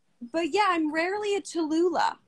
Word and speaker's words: Tallulah: It's a 3-syllable name, which you think isn't a big deal, but it's heavy in the mouth. It is. I think that's the point. People are always shortening my name. It's 3 syllables.